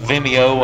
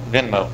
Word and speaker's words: Venmo: electronic ways that uh vimeo i think is one if i'm saying that right i may be mispronouncing that i don't know but venmo venmo thank you frustrating me out on